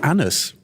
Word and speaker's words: Anders: I learned that Anders' name is pronounced Anus.